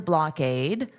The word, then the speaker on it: blockade: And notice the pronunciation of this ending is aid. Aid. Aid. Now, because of the way the syllables will be divided, it will sound more like blade. So, you'll hear this K sound on the aid.